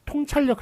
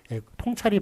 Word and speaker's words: 통찰: 그렇지만 통찰력 할 때는 잘못 읽는 통을 맞게 했습니다. 그래서 통찰력 할 때는 통이라고 읽는 것. 통찰이 맞다.